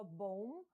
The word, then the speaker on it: bomb: У вимові слова bomb, bomber, друга B не вимовляється.